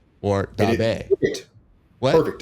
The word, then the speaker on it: Daube: Ian Daube, right? Or Daube. Perfect. What? Perfect. Daube.